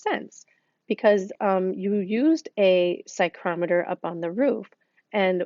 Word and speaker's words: psychrometer: that is called a psychrometer this p is actually silent so we don't actually pronounce the P you pronounce this psychrometer kind of like psych